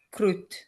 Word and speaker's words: crud: D si pronuncia T, crudo, crud, si pronuncia crut.